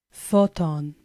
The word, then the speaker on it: photon: to our third word photon Photon follows the same pattern two syllables with the stress on the first syllable Photon and finally our